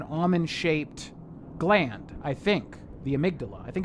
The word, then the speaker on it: amygdala: A character in this game pronounces it amygdala, and I think that's incorrect. It's actually amygdala.